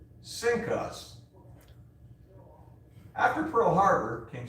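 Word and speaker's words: CINCUS: is the cnc us which is pronounced sync us after pearl harbor king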